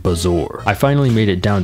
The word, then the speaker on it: bezoar: I got a bezoar! I don't know how you're supposed to pronounce that word, but I'm almost certain it's